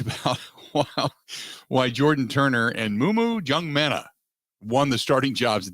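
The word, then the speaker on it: Maema Njongmeta: The other one, how do you pronounce his name properly? Muma Jungmeta. Muma Jungmeta. Okay. Because I screw it up terribly every time. So Jim Leonhard talked about why Jordan Turner and Mumu Jungmeta won the starting jobs at the inside linebacker position.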